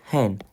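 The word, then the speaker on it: हैं: Et maintenant, pour nous, c'est là, c'est un peu plus dur niveau prononciation, ça va être hen. Il y a un N là, et ça va se prononcer comme ça.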